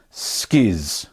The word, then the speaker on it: Schiz: a Kurd nerds today we're making skis spelled c-h-i Z so Skiz is a an Italian